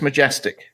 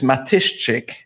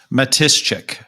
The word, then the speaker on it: Matyszczyk: to call me majestic because they couldn't pronounce it the pronunciation is Matuschek because the SC and the cz in the middle are like shch Matuschek that was very good